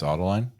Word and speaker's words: Adeline: Bahamas aine yeah yeah is it like like it spelled like adelene but it's autoline yeah like Adeline but autoline yeah fair enough really